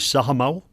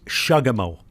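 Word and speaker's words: saqamaw: No, we don't anymore, because the word for chief, for example, today is sahamau. Now, if you go back at the letter that I'll talk about perhaps in other programs at some point, in 1750, they wrote it as shagamau.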